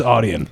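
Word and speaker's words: Audien: to say this a u d i e Aiden aen where's that Oden oh yeah better known as aian better known as audian yeah I now I know who you're talking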